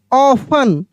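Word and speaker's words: often: एस ओ एफ टी ई एन सफन क्या पढ़ेंगे सफन यहां पर देखिए ओ एफ टी ई एन ऑफन ऑफन वही वाला वर्ड दोबारा से रिपीट हो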